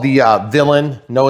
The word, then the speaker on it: Villain: Villain. Villain. It's not villain. It's just villain.